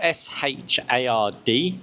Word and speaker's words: Shard: So it's spelled S H A R D. Okay. Is pronounced as the shard. The Shard. The Shard. The at the end. It's a D sound at the end.